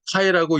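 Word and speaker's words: καί: 됩니다 그래서 이것을 연결해서 읽으면 예배소에 있는 에베소에 있는이라고 읽으시면 됩니다 그리고 일곱 번째 단어가 언급되고 있습니다이 7번째 단어는 하이라고 읽습니다이 카이의 의미는 대등 접속사로서 그리고 혹은 또라고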